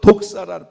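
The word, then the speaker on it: δόξα: 영광이, 그 영광이라고 하는 말이 이게 헬라어로 독사라, 뱀을 말하는 독사가 아니고 발음이 독사인데, 독사라고 하는데 그 영광이라고 하는 게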